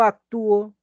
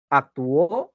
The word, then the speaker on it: actúo: Porque si tú dices yo actúo, por ejemplo, yo te digo yo actúo, ¿sí? Yo actúo. ¿Lleva tilde o no lleva tilde? Yo actúo. ¿Lleva o no lleva tilde? No. No. Actúo. ¿Lleva tilde? Sí. Claro que lleva tilde. ¿Actuó? No, yo te he dicho actúo. Yo actúo. Yo te pregunto, ¿en la raíz hay tilde del verbo actuar?